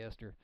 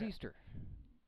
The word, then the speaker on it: Easter: It looks like it should be Esther. Yeah, well, But it is Easter. Family acquaintance. Yep. Their mother is Esther. And Michael, nice guy that he is, just allowed himself to be called Michael Esther for about 4 years before someone finally corrected us on the pronunciation.